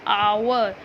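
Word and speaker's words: hour: रही है तो यह क्या बन गया हमारा आवर तो जो हमने इसको प्रणाम्स किया ऐड तो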